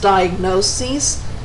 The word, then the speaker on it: diagnoses: There is also a pronunciation difference. In the singular, notice that they end in is, and they are pronounced diagnosis and prognosis. In the plural, the is at the end is changed to es, and they're pronounced diagnoses and prognoses.